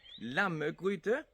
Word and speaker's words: Lammegryde: Lammegryde.